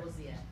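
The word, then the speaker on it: Wojcicki: Susan Wojcik, I can't pronounce her last name. Wojcik.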